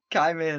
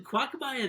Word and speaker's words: Qimir: I'm not even going to try and pronounce his name. Qimir. Qimir, that's it, yeah. Why you called him Quagmire the other day?